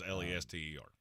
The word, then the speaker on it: Leicester: Leicester is Lester. You listen, we're going into their neighborhood, and you cannot pronounce it that way or we get kicked out.